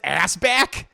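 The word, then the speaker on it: Asbæk: know five minutes later it's pronounced assback his name is pillow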